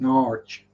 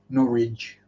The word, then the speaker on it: Norwich: But in good old Norfolk, it's pronounced Norwich or Norwich.